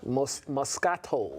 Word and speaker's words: Moscato: Moscato. Moscato, okay, good. Yeah. So I did do it right. White. They got white, pink, red. Red Moscato?